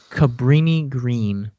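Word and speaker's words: Cabrini-Green: Cabrini Green. Cabrini Green.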